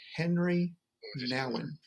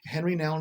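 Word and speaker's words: Henri Nouwen: so often it's called the wounded healer by henry nowin the wounded healer by henry now and that's spelled h-e-n-r-i-n-o-u-d excuse me n-o-u-w-e-n henry noun is a catholic monk so he's going to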